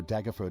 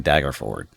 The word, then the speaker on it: Daggerford: Why is he insisting on pronounce mispronouncing dagger ford? Why does he call it dagger for? There's no e or u in there at the end. It's dagger ford.